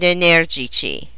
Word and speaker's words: energici: Their masculine plural endings have a soft C. Simpatici, antipatici, and energici.